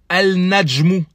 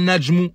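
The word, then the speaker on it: النجم: On dit pas al najmou, al najmou. Non, on dit najmou. Le lam est toujours écrit mais ne se prononce pas.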